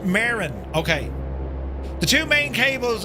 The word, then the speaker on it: Marin: Ooh, it's pronounced Marin.